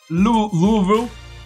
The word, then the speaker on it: Louisville: Louisville. Louisville. Right. That's how you say it. You got to like kind of slur, you know, slur it a little.